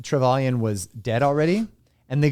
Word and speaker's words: Trevelyan: How do you fucking pronounce his name? Trevelyan. That's what I used to pronounce it, but it's different. It's Trevelyan.